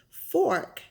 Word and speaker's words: fork: There's an R. You have to pronounce the R. Fork, fork, not fork.